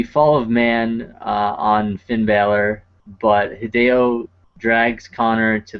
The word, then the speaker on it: Balor: gets the pin and Baylor comes in or Balor I I I always pronounce it differently but it's Balor I'm sorry I apologize